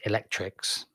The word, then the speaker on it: ElectRx: The program called Electrex, or ElectRx, pronounced Electrix, ultimately aims to replace